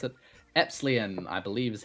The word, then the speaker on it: epsilon: except enlightened um epsilon because i can't ever pronounce it wait at silon oh epsilon wait what i'm getting some some words here on absolute cylon epsilon okay this is going to